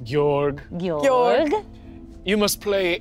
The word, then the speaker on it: George: It's spelled George, but it's pronounced Georg.